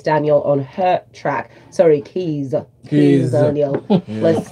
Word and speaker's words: Kizz Daniel: Sorry, Kizz Daniel.